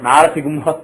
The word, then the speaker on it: Narasimha: But what ended up happening is, people just pronounce it as G. And they don't even say Sig, they say Sigu. So this is pronounced as Sigumha. So Narasigumha Prachodaya, that is how